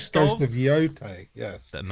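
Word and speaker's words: Yōtei: Ghost of Yote. It is Yote. I I kept saying Yot. I'm not sure it is. Oh, it's it is Yote. That's how she pronounces it in the game.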